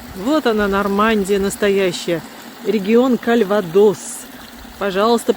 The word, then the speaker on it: Кальвадос: Регион Кальвадос. Пожалуйста, по-русски говорите Кальвадос с ударением на последний слог, так же, как и по-французски. Ни в коем случае не Кальвадос.